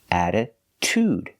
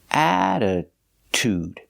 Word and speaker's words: attitude: like a real t attitude the stress is on the first and third syllable attitude attitude so the stress